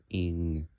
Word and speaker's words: Eng: the 24 consists of Ing, like ENG, and that's how you pronounce it.